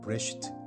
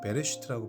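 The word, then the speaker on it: בְּרֵאשִׁית: 브레쉬트 혹은 베레슈트라고 발음하는 단어고요.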